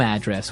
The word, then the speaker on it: address: So, different from your home address where you live. Yeah. And there the stress is on the first syllable address.